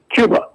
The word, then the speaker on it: Cuba: It turns out that she's a big fan of uh Cuba, although she she pronounces it Kuba.